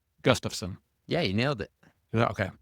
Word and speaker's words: Gustafson: Just in Nebraska, your last name would be pronounced Gustafson.